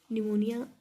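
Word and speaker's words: pneumonia: निमोनिया जो है आपका पी से स्टार्ट होता है, पी साइलेंट होता है।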